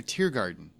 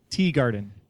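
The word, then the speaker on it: Teegarden: Was it Teagarden or Tiergarden? Teagarden. Wow, I said it wrong originally, and I should be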